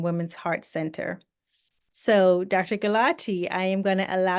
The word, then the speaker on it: Gulati: Gulati is a cardiologist. And correct me if I'm mispronouncing your name, please.